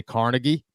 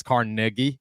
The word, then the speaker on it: Carnegie: for a lot is I say Carnegie, and people are like, no. Carnegie? It's Carnegie, and I'm like, no, dude, it's Carnegie. It's spelled Carnegie. So I'll take the L on that. I understand I'm in the wrong there.